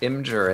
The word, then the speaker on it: Imgur: Let me save it and rehost it on Imgur because I don't know whose web server this is and I don't want to destroy them. So you pronounce it Imgur and not Imgur, huh?